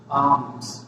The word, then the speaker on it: alms: he gave alms, देखिए यहाँ पे इस आर्म्स में जो है यल क्या होता है, साइलेंट होता है।